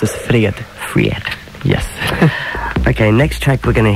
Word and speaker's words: fred: And you pronounce it Fred.